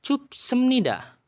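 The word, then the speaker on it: 싶습니다: Jadi dibacanya cupsemnida, double S, cupsemnida. Oke. Cuman bedanya yang ini P-nya masih jelas kan ngomongnya. Cupsemnida, ada P-nya.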